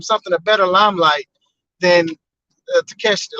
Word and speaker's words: Takeshita: I'm sorry, I said his name wrong. Takeshita.